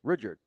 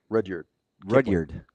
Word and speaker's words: Rudyard: Although he's been on a kind of a Rudyard Kipling kick lately, so maybe we go there. Wait, can we agree on his first name? What is Kipling's first name? Rudyard. Pardon? Rudyard.